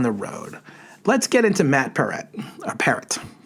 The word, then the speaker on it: Matt Peart: She said it's like parrot. So it's Matt Peart.